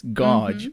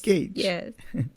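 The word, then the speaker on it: gauge: in some situations but the spelling is confusing right because it's G Au it's godge it's not God it's Gage it's very confusing exactly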